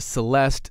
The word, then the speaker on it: celeste: real samples we have a celesta or a celeste same instrument different way of spelling and pronouncing it um and we